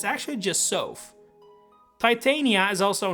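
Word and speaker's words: Sothe: I for the longest time been calling Micaia's best buddy Sophie, but it's actually just Sof. Titania is also not pronounced as I just did it, which I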